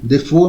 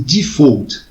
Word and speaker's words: default: dizer, eu omiti esse, na verdade pronuncia-se default, tá, em inglês, né? Mas a gente fala em português default, talvez por influência da língua francesa.